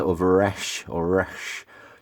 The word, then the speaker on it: resh: the hebrew letter of resh or rash you kind of you gotta almost roll your r in a very guttural way if i if i know correctly which i don't but there you go